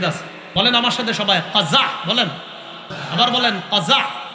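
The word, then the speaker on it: قزع: বলেন আমার সাথে সবাই কজা বলেন আবার বলেন কজা কজা কফ যা আইন বানানটা কজা বলেন কজা কজা করা নিষেধ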